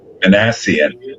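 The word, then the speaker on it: Minasian: And the Angels just got rid of uh Manasian. Am I saying it right? The Angels GM. Manassian.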